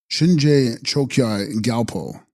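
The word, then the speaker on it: Shinje Chökyi Gyalpo: And text: Shin Raji Hai Chos Kya Gyalpo, pronounced Shinje Chokyai Gyalpo, Sanskrit Dharma Raja plus Yama Raja, as described here and in the second book of the Bardo Total.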